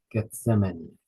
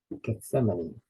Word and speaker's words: Gethsemane: money can't say money put stress on that last syllable Gethsemane Gethsemane thank you uh uh